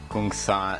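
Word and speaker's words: !Kung San: Southern Africa, among the Kungsan. It's got to be pronounced like this because it's a click language, so among hunter-gatherers in Southern Africa.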